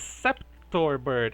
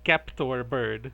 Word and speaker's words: Skeptorbird: Our next coach is Sceptorbird. Actually, I think it's Skeptorbird. It's a hard C.